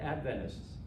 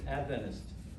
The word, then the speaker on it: Adventist: you so so then how do you say the word Adventist you hear if you hear it uh someone from the United States who grew up as an Adventist who says Adventist other people say Adventists and it's a giveaway